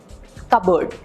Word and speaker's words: cupboard: Cup bird भी ठीक नहीं है ना, क्योंकि इसमें प की साउंड है ही नहीं और डबल बी की साउंड भी नहीं है। कपबर्ड भी नहीं है, कपबर्ड, सो इट्स कपबर्ड। मतलब अगर इसकी असली स्पेलिंग होती तो CUBURD होती, कपबर्ड।